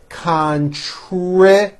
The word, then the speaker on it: contribute: will continue next month contribute three syllables contribute we will contribute Our Time